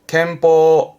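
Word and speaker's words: 拳法: 발음은 켄즈, 켄즈에서 음으로는 켄갑니다. 권총의 권자, 켄즈. 권법이군요. 켄뽀, 켄뽀.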